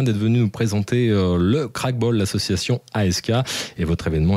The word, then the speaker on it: Krachtbal: On l'a pas dit, mais Crackball, ça s'écrit comment?